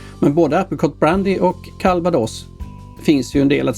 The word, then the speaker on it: Calvados: Först och främst uttalet av drycken. Jag gjorde inte fel när jag uttalade S-et på slutet. Det kan vi tacka ordets spanska ursprung för.